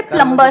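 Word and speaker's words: plumber: सर जैसे प्लम्बर, करते हैं। सब लोग प्लम्बर बोलते हैं हमारे देश में, बढ़िया है यार, क्या दिक्कत है? बी साइलेंट है, उसमें प्लम्बर ही तो होता है।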